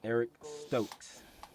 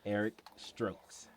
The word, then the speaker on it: Eric Stokes: Next one is cornerback Eric Stokes. No, DJ, say it right. As Ant called him, Eric Strokes.